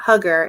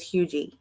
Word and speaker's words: Huger: how you pronounce it it is not hugger it is huger just so you know